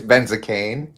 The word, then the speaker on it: Benzakein: I probably totally butchered his surname. It's Benzakein. Benzakein. It sounds like a medication.